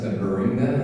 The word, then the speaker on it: Beringia: (audience member) I have a question about ber-ringe-ga, is that how you pronounce it, ber-ring-ia (Erlandson) Beringia (audience member) Beringia It covers a wider swath than I was aware of for a long time.